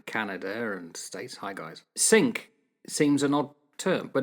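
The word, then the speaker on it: Cinque: people out in Canada and States hi guys sink seems an odd term but it's actually the English pronunciation of sank the French five because they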